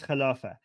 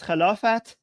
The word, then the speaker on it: Khilafah: Okay, so for some reason, in Persian, when you say these words, you pronounce the t sound at the end, but in Arabic, they just pronounce it like with eh. So English is Caliphate, Persian is Khilafat, Arabic is Khilafah. So without the t sound at the very end.